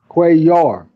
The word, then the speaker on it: Cuellar: you sinned in Spanish when you see two eels next to each other you say it like a why so Salar Cuellar Cuellar okay Cuellar almost like a cute Cuellar okay so you